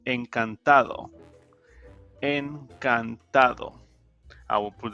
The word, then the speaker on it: encantado: if you're a male nurse you can say encantado en cantado i will put the pronunciation at a later page if you're a